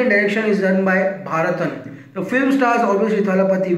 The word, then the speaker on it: Bharathan: Bhairava has been directed by Bharathanam. A lot of confusion in pronouncing his name. His name is Bharathan, and the music has been given by Santosh Narayan.